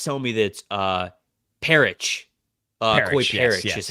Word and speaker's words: Parrish: Oh, the chat's telling me that Parrish, Koi Parrish is how you say his last name.